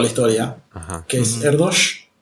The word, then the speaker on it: Erdős: Que es Erdős. Se escribe Erdős, pero se pronuncia con sh porque es húngaro.